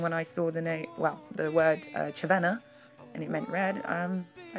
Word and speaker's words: Červená: Now, Cervena is actually pronounced Cervena when it's got the accents on it. But when I put that online and that, people kept calling me Cervena because they didn't understand that the accents would make it into a ch.